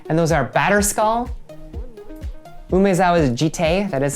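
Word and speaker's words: Jitte: And those are Batterskull, Umezawa's Jite, that is how you pronounce it, Jite, Umezawa's Jite, or Skull Clamp.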